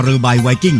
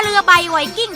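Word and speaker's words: เรือใบไวกิ้ง: ไป สน ใจ แก ไป ดู ที่ กระสอบ ที่ เขา เขียน ว่า ตรา เร ใบ ไวกิ้ง อ่าน ว่า ตรา เรบ ไวกิ้ง เท่า นั้น แหละ ก็ จะ ได้ ปุ๋ย ดี ๆ ไป ใช้ แล้ว ใช่ ถูก อย่าง ผู้ ใหญ่ ว่า ตรา เรือ ใบ ไวกิ้ง ที่ ข้าง กระสอบ จะ ไป อ่าน เป็น อย่าง อื่น ได้ ยัง ไง ก็ ต้อง อ่าน ว่า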